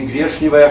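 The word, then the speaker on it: гречневая: Я вас не призываю говорить «коришневый» или «грешневая каша» или «пряничный домик». Хотя такие произношения в старомосковском произношении тоже одобрены, они там есть.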